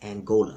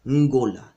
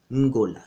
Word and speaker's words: Ngola: Ndongo is the kingdom that you mispronounce as Angola. You think it's a nation, you call it Angola. That term Angola is a result of the Portuguese and other Europeans mispronouncing and misunderstanding the Kimbundu term Ngola. Ngola.